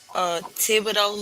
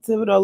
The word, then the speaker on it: Thibodaux: So Nickel State is in, and I'm hoping that I'm pronouncing this correctly. Thibodaux, Louisiana. Yeah, that's it. Thibodaux, Louisiana.